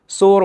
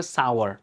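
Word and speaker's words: sour: মিন করেছে আর কি এটার উচ্চারণ কিন্তু সোর বা সোর না এটার উচ্চারণ হবে সাওয়ার সাওয়ার সাওয়ার মানে হচ্ছে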